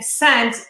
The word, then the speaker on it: scent: In scent, S-C-E-N-T, what is silent, the S or the C? C.